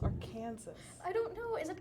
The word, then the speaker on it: Arkansas: It's not Arkansas. It's Arkansas.